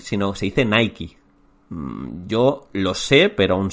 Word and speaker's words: Nike: Y de este podcast quiero que os llevéis que realmente Nike no se dice Nike, sino se dice Nike.